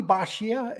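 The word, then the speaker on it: Bisaccia: now we're going to get into uh Bobby bashia is that how you say his name yes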